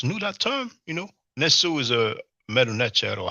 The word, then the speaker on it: Nesu: Nesu is a Medu Neter or hieroglyphic word for king. Some people pronounce it Nesut or Nisut, but he actually says Nehesu.